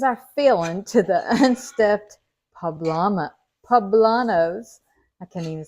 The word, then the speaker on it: poblano: These are now called unstuffed poblano. Poblano. I asked Siri how to say it, and they had a lady on there saying Poblano. So that's how we say it, when we can say it.